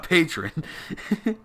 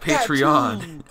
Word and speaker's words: Patreon: our patron a patreon patron pronounced patreon that's much for me